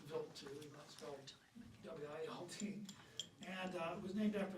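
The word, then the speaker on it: Wild 2: It's pronounced Vilt W and it was named after a Swiss astronomer named Paul Vilt and he discovered this comet in 1978.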